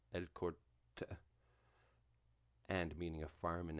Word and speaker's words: El Cortijo: them credit ruiz launched el cortijo pronounced el corte and meaning a farm